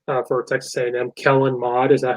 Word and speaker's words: Kellen Mond: Kellen Mond, is that how you say it? Mond.